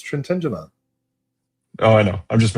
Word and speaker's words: Trintignant: It's Trintignant.